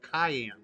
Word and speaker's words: Cyan: pronounced Cayenne.